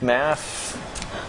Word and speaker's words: MAF: amia for math or we pronounce MAF math that's pretty lot though